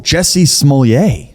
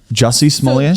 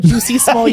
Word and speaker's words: Jussie Smollett: I think you're pronouncing it the way Dave Chappelle did it. He called him Juicy Smollett.